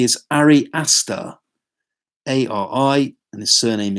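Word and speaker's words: Ari Aster: and hereditary the filmmakers name is I got pronounces correctly as re aster AR I and the surname is a STR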